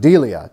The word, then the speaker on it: deilia: The word fear, I'm sure I'm going to butcher the pronunciation, but it's the Greek word deilia, D-E-I-L-I-A.